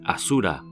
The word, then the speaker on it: Asura: El término aura era también conocido por los indios, que lo pronunciaban Asura. Son los iranios quienes transformaron la S original en una H.